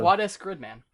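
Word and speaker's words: SSSS.Gridman: Quad-S Gridman. That's right. I thought you phonetically pronounced the S's. Well, like Gridman. It sounds like a U move, but quad S.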